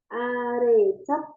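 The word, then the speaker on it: 아래쪽: Terus kalau bawah itu arecok. Arecok ya. Jadi ini double J ini kita bacanya C.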